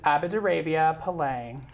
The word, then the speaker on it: Apadravya Palang: the audience can you give us a good pronunciation so it's avid Arabia palang Arabia wine so what does it